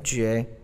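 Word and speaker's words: 亅: 下一个字念成绝，它是倒挂的钩，像一个钩子一样倒挂。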